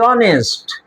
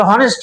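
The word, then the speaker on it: honest: আর এই যে তহলে অনেস্ট এটারে হনেস্ট কব না হনেস্ট করলে আবার শেষে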